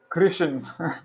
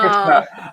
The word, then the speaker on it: Krishna: In Sanskrit, you always pronounce the A at the end.